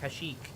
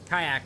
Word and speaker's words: Kashyyyk: If this constitutes how I would drive IRL, then you mispronouncing Kashyyyk as kayak should constitute the fact that you don't know how to pronounce words.